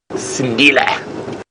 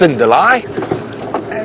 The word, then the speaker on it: Sindile: Of course, we at Safari Live know him as Sindile, or as sometimes we say it, mispronounced, Cindile.